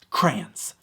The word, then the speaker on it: crayon: The easy answer is crayons. Just one syllable, crayon.